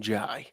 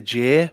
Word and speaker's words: Jai: right as well because i pronounce him jai some people say jay but i do think it's jai no it's joy was anyone else going